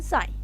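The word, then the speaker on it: sign: एस आई जी एन साई जी साइलेंट है।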